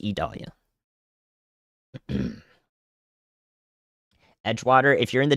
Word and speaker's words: Idalia: watches that are issued it is idolia it is pronounced Italia Edgewater if you're in